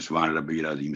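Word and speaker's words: سبحان ربي العظيم: آگے ہے جیسے ہم پڑھتے ہیں سبحان ربی العظیم، سبحان ربی العظیم، تو یہ اس میں کافی غلطیاں ہوتی ہیں. سبحان ربی، ربی با پر تشدید ہے، تو پہلے با پر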